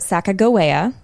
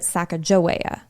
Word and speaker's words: Sacagawea: what it meant but the former they pronounce it Sacagawea the way I've been pronouncing it and the latter pronounces it Sacajawea which is I would